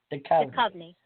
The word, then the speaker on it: Duchovny: Duchovny.